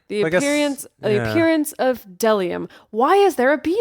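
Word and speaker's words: bdellium: that uh it's pronounced delium oh the B is silent oh oh wait yes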